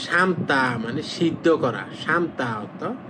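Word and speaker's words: 삶다: লোকটা ইয়াং না এবার এটা উচ্চারণ করবেন সামতা মানে সিদ্ধ করা সামতা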